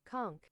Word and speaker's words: conch: It is conch. No the fuck it's not. Are you fucking with me? How do you pronounce conch? All right, are you ready, chat? What? Are you ready, chat? Conk.